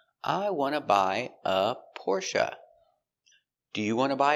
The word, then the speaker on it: Porsche: Stress on the first syllable.